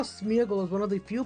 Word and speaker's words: Smeargle: Even though it's pronounced Smeargle with a G or that with like the LE at the end, for some reason Smeargle